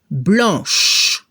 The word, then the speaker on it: blanche: Transformamos la C por CHE. La pronunciación al final al femenino se debe escuchar el sonido sh. Blanche.